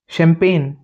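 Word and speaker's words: champagne: ही होते हैं इसमें जैसे शैंपेन सी एच ए एम पी ए जी एन ई शैंपेन इसमें श का साउंड दे रहा है शैंपेन सुना हो ना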